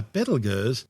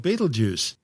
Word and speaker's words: Betelgeuse: Now, if you've never heard of Betelgeuse, it's because these days it's commonly called Betelgeuse, but its name before centuries of tortured mispronunciations started out as Betelgeuse, meaning the hand of the big man in Arabic, the big man being Orion the Hunter.